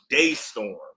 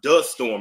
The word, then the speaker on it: DeStorm: Yeah, it's Yeah, but it's pronounced Daystorm. I thought it was Dtorm.